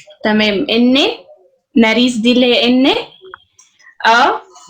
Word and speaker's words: nariz: لو هي يا روان زي ما بتقولي في ايه هتنطق ناريسي، عشان احنا قلنا احنا بننطق كل حاجه. هي ناريس بس ان ار اي زيتا. ناريس اللي هي المناخير، الانف. ماشي يا ريا، الله ينور. ثيتا اللي هي الزي بالذات.